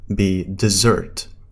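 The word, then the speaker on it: dessert: التحليه ا بعد الغداء طبعا هي بتلفظ بديزيرت موزرت اللي بتيجي باس واحده بتعني صحراء بسرت هي تحليه فوري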